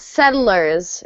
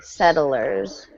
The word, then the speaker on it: settlers: little hard to pronounce settlers is the easiest way settlers um so the two T's sound like a d and it comes from the verb settle so if you say settle and then just add a s